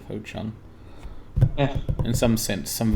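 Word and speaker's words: Ho Chung: Wow, that was probably racist of me to call it Hongchou instead of Ho-Chung.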